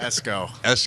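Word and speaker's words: Esko: So Esco tell me if I say that what did I say it wrong? X on the wrong sal. I just want to make sure you know. Esco.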